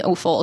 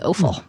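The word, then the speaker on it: Offill: So that is my recommendation, Weather by Jenny Offal or Awful. This is the podcast of alternate pronunciations.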